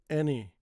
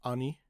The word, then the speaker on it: any: Many said, any hello. Now I put these words because they have a but the sound is still e. Okay. Many, not mani. Said, not say or say. Any not ani and hello.